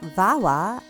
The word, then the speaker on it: Vawaa: I want to take a minute now to hear from our sponsor, Vawa, and Vawa's founder, Geetika Agarwal.